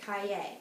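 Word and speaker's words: Caillet: The spelling of Kalett is C-A-I-L-L-E-T. She had said we should pronounce it Kaye instead of Kalett.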